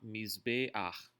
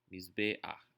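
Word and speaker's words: מזבח: Isso significa que ele é pronunciado antes da sua consoante, diferente das outras letras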